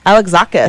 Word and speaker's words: Alexakis: I think that's pronounced Alexakis. Alexakis.